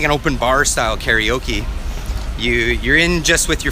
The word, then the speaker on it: karaoke: Okay, so these buildings here are a franchise for karaoke, and or karaoke as they pronounce it here.